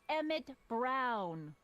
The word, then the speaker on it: Emmett Brown: bill to a t that's emmett brown rhymes with clown which i'm beginning to think you are